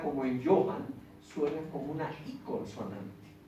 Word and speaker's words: Johann: Entonces, este apellido se pronuncia, este nombre de pila, que es Juan, se pronuncia como I, Johann.